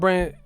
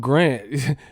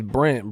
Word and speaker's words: Brandt: No, Rob Brandt. This motherfucker said Rob Grant. He didn't even say his name right. That's what his name is, Brandt, bro.